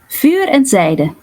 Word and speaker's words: Vuur & Zijde: How do you pronounce the band name? Vuur Zijde.